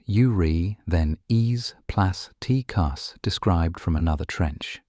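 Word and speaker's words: Eurythenes plasticus: One now well-known example is the amphipod urethanes plasticus pronounced urri then e plus tus described from another trench.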